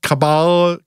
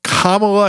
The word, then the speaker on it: Kamala: those names that no one knows how to pronounce like god forbid cabal kamela kamala i got it kamala harris drops the hottest jam of summer 2021